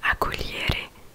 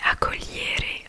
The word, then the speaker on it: accogliere: J'ai un autre exemple aussi que j'ai écrit, accogliere, donc qui veut dire accueillir, et accogliere en fait le liere ça s'écrit G-L-I E-2-R-E mais du coup le G ne se prononce pas.